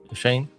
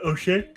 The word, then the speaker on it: O'Shea: And then everybody, especially Shawn O'Shea, Shane, is that how you say his name? Uh O'Shea.